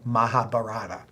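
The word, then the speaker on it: Mahabharata: India there's a epic called the Maha barar sometimes pronounced the mahab barata it's relatively thick and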